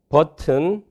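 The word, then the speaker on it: button: 버튼은 여기가 트고 여기가 느니까 홈 오르게닉 하지요. 같은 엘비올라 사운드입니다. 그래서 성절음이 안 될 이유가 없습니다. 버튼 그렇게 되고요.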